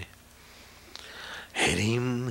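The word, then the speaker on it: ह्रीं: हरिम हरिम हरिम हरिम हा करके नीचे रेफ और ऊपर बिंदी और दीर्घ हरिम हरिम हरिम जप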